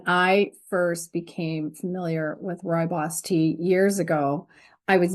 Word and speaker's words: rooibos: them pronounce it as Roy boss and I heard you pronounce it in another video you said it's like Roy is your boss exactly yeah because before